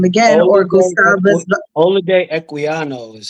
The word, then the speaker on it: Olaudah Equiano: Olaudah Equiano is how you pronounce it. Olaudah Equiano, or Gustavus Vassa, the African.